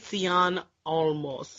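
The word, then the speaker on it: Cien Almas: Cien Almost. Yes, you know, Andrade Cien Almost. You have to do it with a Spanish accent.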